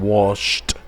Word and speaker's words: washed: Wash en pasado se convierte en washed, con un sonido como T. Clean tiene vibración, tiene voz, lo pronuncio como D. Cleaned. Wash no tiene vibración, no tiene voz, por lo tanto lo pronuncio como T. Washed.